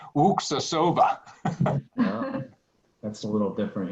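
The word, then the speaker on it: Luksusowa: That's like my favorite vodka is when people look at it, they pronounce it Lukasova, and it's Wuksasova.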